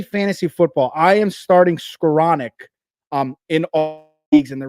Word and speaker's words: Skowronek: Do you know how to pronounce that last name? Skowronek?